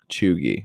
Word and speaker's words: cheugy: It's pronounced Chugi.